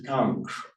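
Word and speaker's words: kāṅkṣ: So you get a route developed from calm, which in Sanskrit is kanksh, the dot under the S makes it a sh sound.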